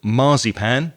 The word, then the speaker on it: marzipan: at the cake underneath notice the stress that we put on the word marzipan which is different from the way spanish people say it so we have